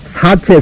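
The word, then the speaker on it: 四諦: 이것은 사체, 사제 두 가지로 이것은 발음합니다. 글자 본뜻은 이것은 신실할 책자 이것이 사체라 하지만은 보통 그냥 그 음편에 대해서 사제라고 이제 그러나 지금 사제는 또 사체라고 나왔으니까 이제 우리는 그렇게 할 수밖에 없지요.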